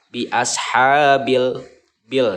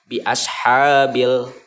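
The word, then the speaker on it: بِأَصْحَابِ الْفِيلِ: ini lift Lam Qomariah dibacanya harus jelas biashabilfil nah jadi ketika menyebutkan lamanya itu terjelas terbaca jelas kedengaran biashabilfil gede Alif Lam Qomariah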